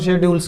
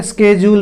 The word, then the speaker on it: schedule: Mainly ये time tables और शेड्यूल्स की बात हो, इसको शेड्यूल भी बोलते हैं, स्केड्यूल भी बोलते हैं, दोनों की प्रोनाउंसिएशन ठीक है, आपकी मर्जी। आप इसको स्केड्यूल भी बोल सकते हो, शेड्यूल भी बोल सकते हो, नो प्रॉब्लम, ठीक है।